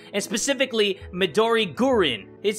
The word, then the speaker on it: Midori Gurin: And specifically, Midori Gurin. It says, "By the way, Midori Gurin is pronounced Midori Green, but with a Japanese accent."